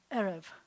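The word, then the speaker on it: ערב: hear that the two as most Hebrew words have the accent on the last syllable but these will always have the accent on the syllable with the first e that's where the accent the syllable will be so this sounds like e and this sounds like re but you put it together it's going to be arev arev and the way to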